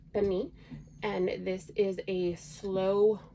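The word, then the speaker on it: pernil: way to can this and this is called Pani it is spelled p-e-r-n-i-l um but is pronounced Beni and this is a slow roasted pork and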